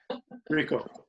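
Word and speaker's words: Ricoh: Is that H silent? Rico? Rico.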